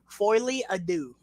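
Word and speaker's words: Folie à Deux: Foily Ado.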